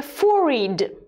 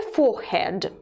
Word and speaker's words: forehead: teeth a chin a for read let's look at this word there are two variants of pronunciation a for read and a forehead a phorid a forehead and eyebrow